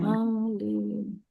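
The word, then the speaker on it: عَالِينَ: Alin. Alin harus stabil, A-nya panjangnya sama dengan lin.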